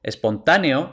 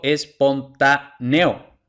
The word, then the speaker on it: espontáneo: ortografía Entonces por ejemplo yo como nativo espontáneo digo espontáneo y pronuncio eo en una sola sílaba lo pronunció como diptongo Pero según las reglas